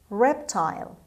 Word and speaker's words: reptile: word number one reptile reptile reptile the word is a noun and the stress is at the beginning means a cold-blooded animal